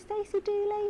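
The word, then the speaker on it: Stacey Dooley: Is it Stacy Douly? Yes, that's it.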